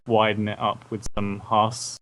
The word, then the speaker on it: Haas: sound, I will widen it up with some Haas. It's spelled Haas.